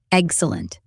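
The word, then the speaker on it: Eggcellent: Excellent. Punny, right? Spell it. E G G C E L L E N T. Excellent. Egg like the thing, celant like excellent.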